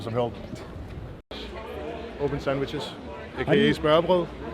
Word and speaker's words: smørrebrød: Open sandwiches, aka smørrebrød.